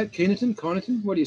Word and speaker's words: Kyneton: rainfall averages per month for Castle, Main and Keeneton. Is that how you say it? Keeneton? Kyneton? What do you say there? Right. Kyneton.